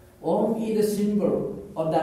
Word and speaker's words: Om: reality in Sanskrit language om consists of three syllabes a u and Ma so a is pronounced with open m mouth open and my is pronounced with mouth closed and O is pronounced with mouth half open or half closed now all human sound